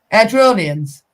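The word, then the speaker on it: Airdrieonians: Airdronians. Thank you. There you go. Oh, Wait, I can pronounce something right.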